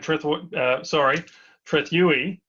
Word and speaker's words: Trethewey: MaiaGrazing, and we're really pleased to have Sam Trethewey, I should say. I've just been getting a lesson on how to say his name correctly, even though I've known him for a little while now. Sam Trethewey from Tasmania, from Tas Ag Co.